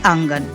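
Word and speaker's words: अंगण: দেখছেন দালান বা অঙ্গন মারাঠিতেও অঙ্গনই বলা হয় যেমন আমরা বলি না অঙ্গন শুধু উচ্চারণটা হয় আঙ্গান তো এই আঙ্গান বা অঙ্গনে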